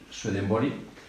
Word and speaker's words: Swedenborg: Aquí tenéis unos cuantos, desde Jorge Luis Borges, el escritor, que dijo de Swedenborg, yo no voy a pronunciarlo en inglés, porque creo que en sueco es Swedenborg.